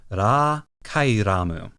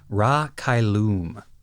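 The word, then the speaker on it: Ra Cailum: kyum or raum good question the Japanese is RA kaamu I'm pretty confident based on the way it's pronounced in Japanese and the way it's written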